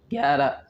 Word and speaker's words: گیارہ: طيب، گیارہ گیارہ گیارہ، نطقه گے و یا و را، گیارہ گیارہ.